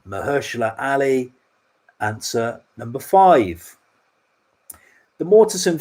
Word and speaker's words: Mahershala Ali: Got to pronounce this right. It's Mahershala Ali. Mahershala Ali, answer number five.